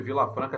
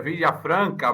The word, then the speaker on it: Vila Franca: porque o meu sobrenome Vila Franca também espanhol e todo mundo pronuncia errado é o certo seria virar Franca mais beleza minha filha